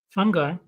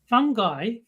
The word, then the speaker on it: fungi: figure out how to how to pronounce Fu n fun guy well that's how you pronounce it but that's not it's three valid ways to pronounce it all three are valid I was looking for which one is right and what I found was these three of them are right so I know fun fungi fungi uh I don't